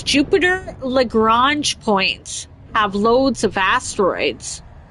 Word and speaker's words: Lagrange: Old Virgin says, Jupiter Lagrange points have loads of asteroids.